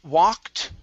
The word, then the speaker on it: walked: good um okay with the word walked instead of saying looked okay give me an aw open up the mouth ah she walked she